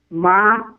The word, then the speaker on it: marijuana: They spell it with a J, but how do you really say it? Ends with a na. Right? Ma-ri-wa-na.